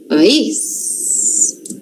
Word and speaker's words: país: Então, essa daqui, ó, a sílaba forte, o lugarzinho forte da palavra que a gente vai falar é no is. Então, o país.